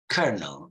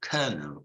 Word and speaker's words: colonel: I'm gonna say make just begin to pronounce it so you say colonel colonel colonel you see Colonel mind you this remember this sound it's the phone in swano remember of work word uh World surgery remember and I mentioned that this ER sound you can find it with all like work that you like surgery the E like her or D at the I like girl so